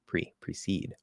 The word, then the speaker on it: precede: So they can both reduce to a schwa, proceed. So how should I proceed?